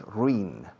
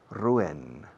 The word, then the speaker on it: ruin: No digáis ruin, es ru. La U lleva una acentuación total y la I de ruin suena una E. Ruin, ruin, ruin.